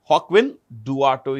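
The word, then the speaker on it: Joaquin Duato: Hawkwin Duato. This is pronounced with a J. Hawkwin Duato is the CEO of Johnson & Johnson.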